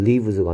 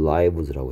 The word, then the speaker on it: lives: 그래서 얘는 lives가 아니고 lives라고 해야 된다 했고요.